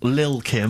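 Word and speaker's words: Lil' Kim: I'm pronouncing that correctly, Lil Kim. Oh, no T's involved.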